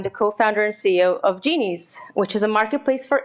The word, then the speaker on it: Genies: you didn't mispronounce it it's called genies so think about a genie in a bottle making wishes come true